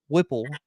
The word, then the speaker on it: Whipple: the thing they're gonna get mark wit um whipple is how you say his last name as